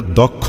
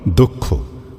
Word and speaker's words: দক্ষ: ওটা দক্ষ নয়। দক্ষ।